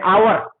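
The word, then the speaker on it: hour: प्रयोग करते हैं, आवर, आवर में क्या होता है, ये देखिए एन आवर, यहां पर एन आवर प्रयोग करते हैं, एक घंटा है तो, है ना, तो यहां पर, है ना, एच जरूर है, एच साइलेंट है, तो आवर का प्रयोग होता है।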